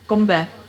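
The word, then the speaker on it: 건배: Gombe. Gombe.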